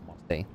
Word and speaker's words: Marseille: of the Order in Marseille. Is that how you say it? They like silent pronounce the L's in there. It's literally just Marseille. Where her son's devastating power might be contained.